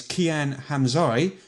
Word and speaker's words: Qian Hamsi: my actual name is Qian hams I before you pronounce it wrong it's Qian Hamsi okay too late my